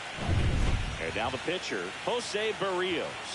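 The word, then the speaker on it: Berríos: Now the pitcher Jose Burios. Oh, Bereos. Okay, so that's how you pronounce it. Burios just missed.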